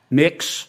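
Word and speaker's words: Mx.: what you're you're proposing it's pronounced next um mix is that how you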